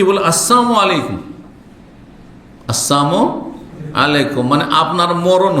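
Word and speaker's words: السلام عليكم: হয়ে গেল বুঝছেন না সাবধান লাম যদি ওখানে সাইলেন্ট করে দেন তাহলে ওর মানে মরণ হয়ে যাবে সালামের লামকে সাইলেন্ট করা বুঝেন তো হ্যা উচ্চারণ করলেন না আপনি তাহলে ওর মানে মরণ হয়ে গেল এজন্য আপনি আসসালামু আলাইকুম বলেন আর আসসালামু আলাইকুম বলেন সাম আলাইকুম মানে মরণ সামুন আলাইকুম সাম মানে মত এজন্য শুদ্ধ উচ্চারণ করে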